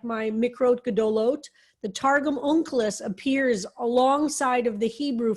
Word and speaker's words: Onkelos: How do you pronounce it, Harold? Onkelos. I say Onkelos.